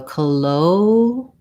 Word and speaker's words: colloquial: Okay, so colloquial has second syllable stress. So that means that the letter CO at the beginning, rather than saying co with an O vowel, it has a reduced vowel, sounds like a schwa, sounds more like ka.